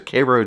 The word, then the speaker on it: Cairo: that's another good example there's a Koo Georgia that's spelled like Cairo well it's named after Kiro Egypt but uh Georgians today pronounce that Koo uh and that's part